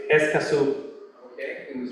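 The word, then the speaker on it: Escazú: what was the name of the club it's esaso okay it was spell that e s c a z u so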